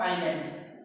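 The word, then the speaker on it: island: आइलैंड्स, group of आइलैंड, आइलैंड नहीं पढ़ना, एस इसमें साइलेंट है, एस क्या है, साइलेंट। जैसे आप पढ़ते हैं इसको क्या, नो, नो नहीं पढ़ते हैं, क्या पढ़ते हैं, नो, के साइलेंट है, उसी प्रकार से इसमें एस साइलेंट वर्ड है, मतलब ये आइलैंड पढ़ा जाएगा इसमें।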